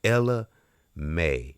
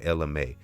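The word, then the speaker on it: Ella Mai: And let's move over to if I say her name right, Ella May, and it's Ella M-A-I, and if I'm not pronouncing it, I hope I'm pronouncing it right, Ella May, and she made that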